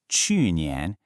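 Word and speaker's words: 去年: This is qùnián, pronounced qùnián.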